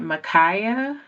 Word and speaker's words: Makhiah: Um, I think it is it Micaia.